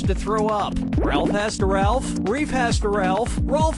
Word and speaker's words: Ralph: 1 yeah ray Fiennes first name is spelled like Ralph but pronounced Rafe and his brother Joseph